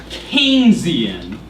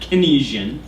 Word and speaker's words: Keynesian: to do is Embrace an idea known as keian and yes that is the cor correct pronunciation is not kesian um the guy's name that is named after